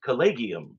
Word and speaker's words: collegium: And I would my instinct was colleium, but I was like, let me look this up. And it says calleium. And then I double check it. And um on lots of YouTube videos, scholars use it for the most part and they're all saying collleium as well.